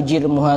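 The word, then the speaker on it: جِرْمُها: Makanya disebutkan al-lisanu jirmuha shaghir wa jurmuha azim. Kalau orang tidak pernah belajar ya bingung bacanya. Soalnya hurufnya sama, harokatnya tidak sama.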